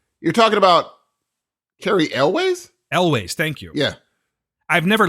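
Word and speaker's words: Elwes: I believe it's Carrie Ells. I do. Okay. And Wait, you're talking about Carrie Elways? Elways, thank you.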